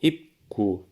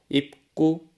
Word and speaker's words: 입구: 우리가 적은 대로 입구, 담다, 갈등으로 소리내면 발음하기가 어렵겠죠? 수업 초반에 이 이야기를 했었습니다. 음운 변동이 일어나는 두 가지 이유 중에 하나가 발음의 경제성, 쉽게 발음하기 위해서였습니다. 입구, 담다, 갈등으로 소리내면 발음하기 어렵기 때문에 화면에 보이는 것처럼 입구, 담다, 갈등으로 소리를 내는 것입니다. 첫 음절의 종성의 비읍, 미음, 리을 뒤에 두 번째 음절 조성의 기역, 디귿이 된소리로 발음되는 것입니다.